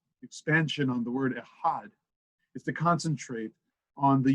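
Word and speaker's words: אחד: the articulation the pronunciation expansion on the word ehad is to concentrate on the unity of the divine and to be sure that we say ahad one and not ah instead of aleph dalit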